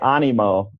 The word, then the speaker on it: Animo: I pronouncing it correctly well I say Animo Animo Animo like animate right got it so Animo